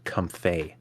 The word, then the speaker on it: Comfey: uh, Apparently, it's potentially pronounced comfey, Comfey. as in the mix between the words comfy and lay.